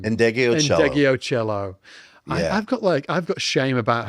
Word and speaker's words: Ndegeocello: Michelle, how do you pronounce her second name? Ndegeocello.